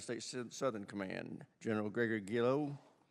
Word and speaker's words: Guillot: Southern command General Gregory gillo how do you pronounce that chairman it's guo guo thank you all right